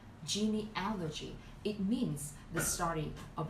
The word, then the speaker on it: genealogy: questions with this word genealogy the Strat you put on the third syllable genealogy it means the stud